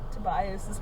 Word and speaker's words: Tobias: totally mispronounced Tobias' name.